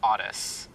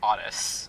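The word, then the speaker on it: Aras: name is RS but it's p out it's Otis it's spelled a r as I keep hearing odit yeah it's it's Otis Otis uh whose last name is Bush cow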